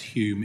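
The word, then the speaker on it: Hulme: Holm to give the presentation. Thank you. Thank you, Chair. If I can just correct, the surname's Hume. It's a silent L.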